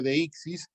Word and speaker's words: deíxis: Deixis debería escribirse con acento en la primera I, ¿no? Porque así es como estamos pronunciando, deixis.